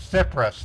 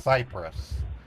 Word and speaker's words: Cyprus: you, I'm correcting you. It's Cyprus, not Cyprus. Cyprus.